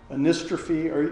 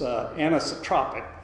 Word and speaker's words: anisotropic: properties such as porosity anestrophe anyone familiar with this chemical term i don't pronounce it correctly it's anisotropic but basically it means